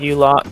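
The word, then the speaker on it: ULACH: I just got a u latch so it's pretty good are you locked you locked yeah depending on what pronunciation you have but most players like I call it you lot it's maybe a month old the window is 11.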